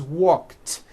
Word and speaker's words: walked: The word walk, which has an unvoiced K sound at the end, walk, becomes walked.